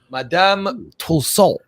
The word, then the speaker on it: Madame Tussauds: How do you go about pronouncing it? Madame Tussaud. Madame Tussauds.